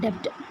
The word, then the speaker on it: debt: Under the CGSSD scheme, the full form of CGSSD is Credit Guarantee Scheme for Subordinate Debt. Credit Guarantee Scheme for Subordinate Debt. Debt means this one. The B is silent. Debt.